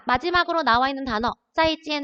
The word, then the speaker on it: 再见: 중국어로 짜이지 아니에요. 짜이지엔이라고 발음을 합니다. 짜이지엔.